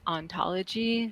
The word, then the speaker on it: hauntology: play on words because in the french in his original language it would be pronounced ontology so there's sort of